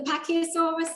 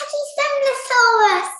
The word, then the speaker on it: Pachycephalosaurus: This was where I think it was the Pachyosaurus. I'm not sure if I'm pronouncing that right. It's Pachycephalosaurus.